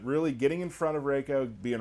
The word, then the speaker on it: Reiko: you some characters today reiko's coming Raco race did I say it right you said it wrong um got him Reiko